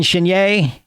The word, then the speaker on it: Chenier: your grandfather buchanan played drums with uh clifton chenier that pronounced that right here yeah yeah and uh